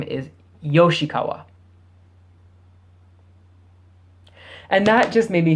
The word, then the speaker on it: Yoshikawa: you can see it, Yoshikawa. Yoshikawa, not Furukawa. So I showed you, this is the kanji for furui. Furu. This is the symbol for Yoshi.